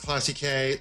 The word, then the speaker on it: classici: And if you add an S onto the English word, which is now classics, we're making it plural, it's pronounced Classiche.